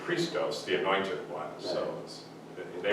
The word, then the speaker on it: Christos: the controversy that he cited was some character named Christus, which is a mispronunciation of Christos, the anointed one.